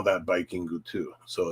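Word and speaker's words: バイキング: Now the next one, this was really funny too, and the next one is pronounced Bikingu. Bikingu. Bikingu, from the word Viking with the horns.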